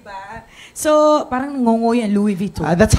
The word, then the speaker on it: Louis Vuitton: So, parang ngongo yan, Louis Vuitton. That's how you pronounce it.